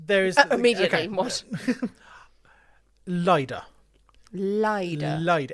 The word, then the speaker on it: Lyda: ligher is lier yeah I'm home again going with lier some people say Lydia we're going with lier